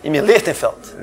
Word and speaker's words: Imi Lichtenfeld: quem foi o Imi, como é que se pronuncia ali? Imi Lichtenfeld.